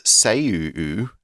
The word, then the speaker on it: seiyuu: And in Japan, voice actors known as seiyuu, and we do think it has that double U sound at the end, are evolving into multi-talented idols.